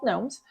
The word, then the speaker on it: gnomes: they were actually called gnomes who work did they spell it gnomes with a G yes is that where that came from yes the silent letter which I believe is